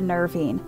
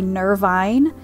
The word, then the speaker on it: nervine: known ad for the nervine now i keep looking at this word and i want to say nirvine but other videos that i saw pronounce it nervine now the following week